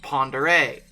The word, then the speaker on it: Pend Oreille: looks like but no it's french and it's pronounced ponder a also i remain convinced